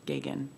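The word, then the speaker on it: Geoghegan: There's one N in her first name, and her last name is Gogan, Geoghean. And I think it's Gagan. Gagan, thank you.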